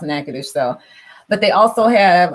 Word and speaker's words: Natchitoches: I always correct people because the spelling of the town that he's from it's very it's spelled Natchitod, something like that, but it's pronounced Natchitoches.